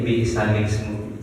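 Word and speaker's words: بئس الاسم: Itu adalah namanya tadi nakal, yaitu memindahkan harokat hamzah wasol ke huruf lam. Jadi cara bacanya jadi bi'salismu. Bi'salis langsung ya Pak.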